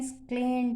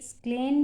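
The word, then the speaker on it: scalene: फिर से पढ़ें, स्क्लेन भी पढ़ते हैं, स्केलन भी पढ़ते हैं। इसकी 2 प्रोनाउंसिएशन है, स्क्लेन भी है और स्केलन भी है। अब प्रोनाउंसिएशन आप चेक भी कर सकते हैं, स्क्लेन एंड स्केलन, तो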